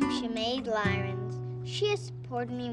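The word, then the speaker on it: Chamaid: It's Shemaid, how you say it? Yes. How do you spell that?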